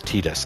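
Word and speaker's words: Tidus: from a Japanese culture pronounce eyes in that part of a name they pronounce it as a long e and the people who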